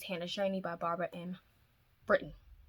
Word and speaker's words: Britton: shiny by barbara in britain it's britain i've been saying brighton it's britain i listened to the